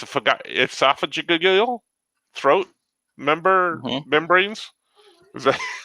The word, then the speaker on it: esophageal: call them but that's what i'm called if esophageal oh i said it right that time esophageal throat membranes how do you like that i